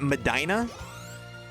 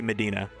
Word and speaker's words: Medina: Is it Madina? How do you say it? Okay, I listen. There's a Pokemon player named Victor Medina. So I And it's spelled just like that. So I'm If I see that word, I say I say Medina.